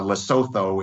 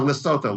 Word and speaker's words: Lesotho: from free trade for steel in landlocked uh lesotho in south that you know it's that's the